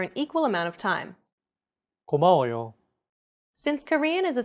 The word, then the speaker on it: 고마워요: the same amount of time allocated for each syllable. 고마워요. 고마워요. Each syllable is pronounced for an equal amount of time. 고마워요.